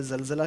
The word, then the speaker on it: زلزلہ: بیٹا یہ جو لفظ ہے زلزلہ، تو اردو میں جیسے ہم بولتے ہیں زلزلہ کہتے ہیں نا، زلزلہ، تو وہی تلفظ ہے جو عربی میں اس زا کا ہے. سیم لفظ ہے اور سیم تلفظ ہے.